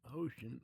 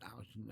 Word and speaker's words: Ouschan: his name is Alvin Ocean or Ocean, which I'm which I hear is how you're supposed to pronounce it. Ocean. Everyone says Ocean, so I'll say Ocean.